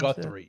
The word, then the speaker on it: Guthrie: Is that how they pronounce Guthrie, yeah, Yeah.